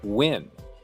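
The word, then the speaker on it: Nguyen: and she's Korean, and her last name is Win, And when you first hear her, like, say, oh, well, her name is Liz Wynn. And you're like, oh, okay, well, that should be pretty easy to spell, right? No, her name is spelled like Nguy, like Oh, NZ.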